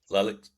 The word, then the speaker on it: Lalic: episode 7, where we've got, is it Lalic? Sorry, That's I fine, don't Matt. want to Yeah, mess that Lalic, that's pronunciation fine. up. I don't take Yep, offense. Lalic.